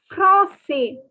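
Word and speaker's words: français: french he can say francais francais you do not have to pronounce the s if you are a boy okay flossy so you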